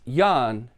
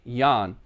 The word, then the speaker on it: Jørgen: No, it's Jan. Oh, so it's spelled Y-A-N? No, it's spelled J-O-R-G-E-N, but it's pronounced Jan.